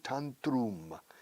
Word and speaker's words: tantrum: Se dice tantrum. Como tantra, pero tantrum.